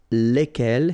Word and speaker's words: lesquels: And the good news is that phonetically, it's lesquels here for the masculine form and then lesquels for the feminine form, all right? So phonetically, it's exactly the same when we talk about the plural form here, but then if